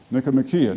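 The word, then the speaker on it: Nicomachean: Nikcomian. You can also pronounce it if you wish wish to.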